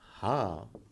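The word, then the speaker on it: حاء: Now, this is not simply Ha. This H in the system of transliteration has a dot beneath it, which really requires you to have a sound coming from a little deeper side of your throat.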